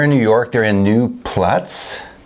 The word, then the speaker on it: New Paltz: They're in New Platz. How do you pronounce it? New something. Paltz. Paltz. P-A-L-T-Z. New Paltz.